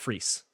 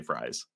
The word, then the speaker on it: Fries: and he did say fries. So it's fries. Okay. He's like French fry.